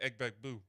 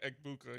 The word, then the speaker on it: Egbuka: That was how Gronk pronounced Emeka Egbuka. He pronounced it Emeka Egbegbue.